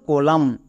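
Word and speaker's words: column: এম এর জন্য ম এবং এখানে এন এর উচ্চারণ হবে না কারণ এম এর পরে এন আছে তার মানে এন সাইলেন্ট তাহলে এর উচ্চারণ কি হল কলাম সি ও এল ইউ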